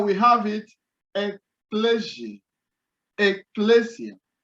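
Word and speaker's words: ἐκκλησία: sigma iota alpha so sometimes kappa depending on the pronunciation is being represented by c now we have it a pleasure ecclesia ecclesia now another word as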